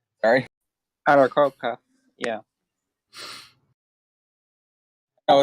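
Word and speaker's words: Aarakocra: It's Eric Hokra. Sorry. Arakoka. Yeah. Oh, it's hard to pronounce because they don't give you like a pronunciation key in the book.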